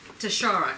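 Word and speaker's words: Tuschara: Tashara. Can everybody say Tashara? Tashara. How hard is that? How do you spell it?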